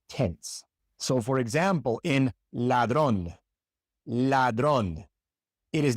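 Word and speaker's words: ladrón: In English, your tongue is relaxed as you pronounce the L. In Spanish, it is tense. So for example in ladron ladron it is not ladron I don't know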